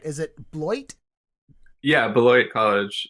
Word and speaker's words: Beloit: Someone said it sounds like the way you pronounce it is basically what sounds like it's the sound of a turd hitting the water or something like that.